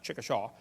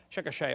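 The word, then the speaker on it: Chickasha: 2005 textbook, and I pronounced it wrong, as Chicochet, not Chickaw, Chicochet, Oklahoma. I got corrected during the break.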